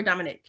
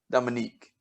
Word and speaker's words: Dominique: Okay, so is it Dominique or Dominic? Dominique. Okay. So there's no Nick. So it's DOMINIQUE.